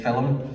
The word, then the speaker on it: film: Away, now we're in Belfast, we can't pronounce that as a two-syllable word. Everywhere else around the world you have to make it one syllable, Jamie, I think, don't you? So we can actually say film.